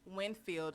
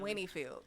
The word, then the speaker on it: Winfield: wrong jack it up what is winfield louisiana how you missed how are you what'd you be saying winnie field i said winterfell she doing it on